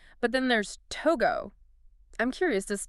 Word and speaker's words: Togo: It's one of those that can trip people up with pronunciation as togo, not to go like the verb.